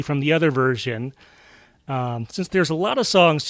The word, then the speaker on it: Cyn: So one of those is a musician called Sin. It's spelled C-Y-N.